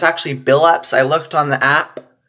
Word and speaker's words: Billups: said Chauncey or Chauncey Billups so it was actually Bill ups not chill ups it's Chauncey Billups is how you say his name I mean put in